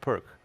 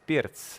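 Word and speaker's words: Pirc: It's not perk. It's not pronounced perk because it's a Slovenian Grandmaster, and it's Pirt's, like Pirt's, P-E-E-R-T-S, Pirt's, something like this, something like that.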